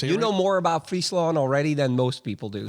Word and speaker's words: Friesland: i saying it wrong it's not freesia it's friesland friesland friesland that's like the freezing wave but freesia that's like i guess in the english way i don't i don't